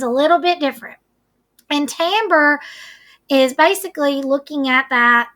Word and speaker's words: timbre: little bit different and it is something called Tambor now you may be saying miss Jenny that